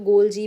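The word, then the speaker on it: Golgi: जो next organelles हैं इनको आप किस किसी भी तरह से प्रोनाउंस कर सकते हो गोलजी भी कहते हैं गोलगी भी कहते हैं गोलगी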